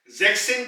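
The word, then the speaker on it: sechzehn: जेक्सेन को भी हम ऐसे ही कहेंगे, पहले हम जेक्स की आवाज निकालेंगे और उसमें हम सेन की ऐड कर देंगे, तो ये बन जाएगा जेक्सेन।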